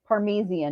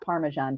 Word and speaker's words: Parmesan: It's not phonetically it's how it's written because I had a friend who was hard hearing who it was parmesian not parmesan cheese.